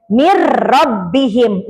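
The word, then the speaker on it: من ربهم: Atau misalnya min rbihim dibacanya mirbihim nunnya jadi menghilang tapi tidak digunakan enggak ditahan lama jangan mirbihim enggak kan enggak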